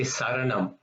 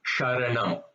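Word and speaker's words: शरणम्: Sometimes they tend to say Saranam, which is not the correct pronunciation because this is a Sanskrit word. It should be Sharanam, right? And not Saranam.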